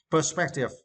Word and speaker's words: perspective: It is now, and for this words, you need to stress the second syllable, spec. Perspective.